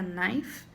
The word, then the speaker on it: knife: Lembrando que não pronuncia o K quando ele tá junto com o N, então fica knife.